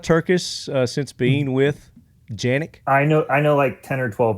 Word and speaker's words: Canik: America just like canic technically in Turkish it's janic but in the US we're here to sell guns not correct people's grammar so like a c all right it's canic people know what you're talking about typically exactly